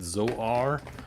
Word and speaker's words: Zor: And Zor has more than one pronunciation. On Filmation, they actually pronounce it Zoar, which is like really weird. I don't know why. I'm going to call it Zor.